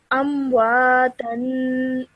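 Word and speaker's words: أَمْوَاتًا: Okay, so whenever you have tanween, make sure you produce that 2-second nasal sound at the end. So for example, over here, you have tanween on the ta. So, amwatan.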